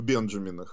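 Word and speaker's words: Benjamin: что Всё дело в Бенджамина имея в виду сто долларовые купюры нотах чь имя как вы помните по-английски произносится как Бенджамин сказал что в Бенджамина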